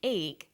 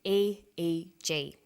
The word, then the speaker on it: EEG: that say the Swinburne researchers he says an EEG that's an abbreviation we don't pronounce it eeeek we say a eg EEG stands for electroencephalograph that's a type of